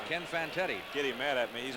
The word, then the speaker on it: Fantetti: They pronounce that. You got me saying it now. Fantetti, you got it right the first time. Ken Fantetti.